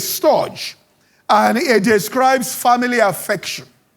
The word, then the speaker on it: storge: Now, the second one, I'll pronounce it in English, but I'm sure the Greeks will pronounce it, is S-T-O-R-G, which is storge.